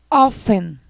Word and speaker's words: often: O próximo, preste atenção nesse, nós não pronunciamos a letra T. Nós falamos assim, ó, often.